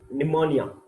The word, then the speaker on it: pneumonia: the next disease is pneumonia remember that the P is silent ammonium Patterson is step